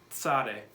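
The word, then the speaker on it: Tsade: And the noise that this letter makes, the pronunciation is ts, ts. It's kind of like an S noise, but you have a little bit of a T in there. T-S, ts, ts, Sade.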